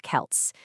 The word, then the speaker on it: Celts: First things first, it's pronounced with a hard K. So, Kelts.